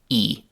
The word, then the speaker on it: he: Another even more common example of h disappearing is the word he, which very often is pronounced as simply e.